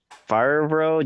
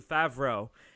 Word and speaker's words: Favreau: Oh no, it's something Favreau, John Favreau. Or John Favreau. John Favreau. I think that's how you pronounce it. It's like French.